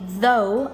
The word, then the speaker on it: though: This one is cough, this one is through, this one is though, and this one is tough. Learn pronunciation so you know the system of all